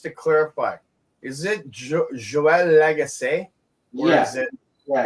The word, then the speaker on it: Lagace: Yeah, I have friends with your last name and people that can't speak French, we just call them Lagacy. Yeah, or Legacy.